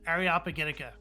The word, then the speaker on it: Areopagitica: years to figure out that the way you pronounce it is areopagitica by the way Fabian uh so uh oh